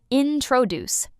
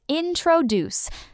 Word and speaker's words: introduce: Many people say introduce, but it's introduce. The stress is at the end.